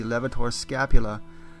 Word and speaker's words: levator scapulae: youtube a lot um yes it's spelled scapulae with an ae but hardly anyone says it that way so anyway levator means